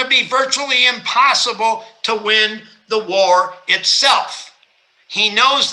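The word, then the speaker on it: Nguyen: that n-g-u-y-e-n and you that's pronounced win even though it says ng win and then cal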